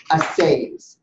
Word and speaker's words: assay: And we're talking about assays, is the way to pronounce it. It is assay.